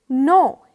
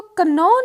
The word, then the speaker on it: know: Next देखिए, नो। KNOW, इसको कनो नहीं प्रोनाउंस करना, इसकी प्रोनाउंसिएशन है नो। के साइलेंट है।